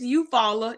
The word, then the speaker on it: Eufaula: It's Eufaula, EUFAULA. Some people say Eufaula. Hey, y'all better. It's Eufaula.